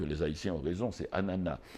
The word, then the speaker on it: ananas: un ananas, on dit ananas ici. Et mais j'ai j'ai appris dernièrement que les Haïtiens ont raison, c'est ananas. Le S de final ne se prononce pas.